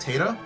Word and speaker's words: Tata: You know that Tata and it's also I think it's pronounced Tata.